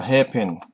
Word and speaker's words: hairpin: likened to being a hair pin in shape and so the terminology hair pin bend the first syllable is the stronger in emphasis hairpin hair pin bin what's taking place at